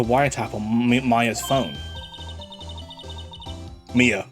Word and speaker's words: Mia: Mia, not Maya.